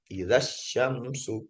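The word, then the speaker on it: إذا الشمس: Nah, dengan takolus bil hazf dengan cara menghilangkan huruf mad. Yang mana huruf mad? Yang alif sukun. Alif sukun awal ini huruf nih. Nah, cara bacanya dia langsung seperti ini. Izas. Nah, langsung seperti ini. Langsung dianggap enggak ada ininya ya. Idyam syamsu idzasyamsu quwirot idzasyamsu jadi enggak dipanjangin.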